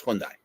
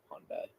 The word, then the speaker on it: Hyundai: tuxen hyai it's that the actual pronunciation in Korea is Hundai oh I say Hundai we americanize it yep all right they're